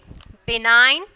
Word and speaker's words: benign: Sign, benign, and then phelam. Okay, phelam. G is silent.